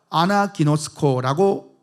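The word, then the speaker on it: ἀναγινώσκω: 이 읽다라는 이 헬라어 단어가 아나기노스코라고 읽습니다.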